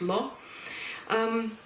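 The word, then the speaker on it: བློ: And then there's another word, awareness, which in Tibetan is lo, which is pronounced, well, blo, it's actually pronounced lo.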